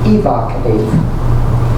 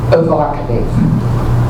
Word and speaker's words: evocative: thought there was pronounced Ibaka until I look it up it's pronounced evocative with that schwa and an unstressed syllable or some some pronunciations